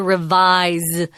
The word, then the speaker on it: revise: form of this verb the verb is to revise with the Z sound it's spelled with an